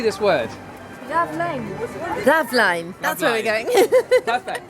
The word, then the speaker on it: Raveleijn: Raveleijn.